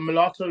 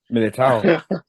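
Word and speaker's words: Militão: That Milito or Mulatto goal, however you spell it. Militao.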